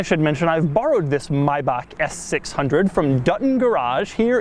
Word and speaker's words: Maybach: you around the s600 a little background now mybach and yes that is the correct pronunciation maybach was initially a luxury car brand like 100